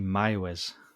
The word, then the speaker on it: Meiwes: Armin Meiwes. No, I'm not actually. No, you caught me out this week. Good. You'll love this. It's actually Meiwes.